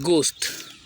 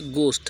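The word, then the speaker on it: ghost: प्रक्रिया बेहद है का गोश्त गोश्त देते हैं गोश्त होता है लेकिन इसको पढ़ते घोस्ट है यह साइलेंट जाता है घोस्ट एट को साइलेंट कर देते हैं इसका हिंदी अर्थ क्या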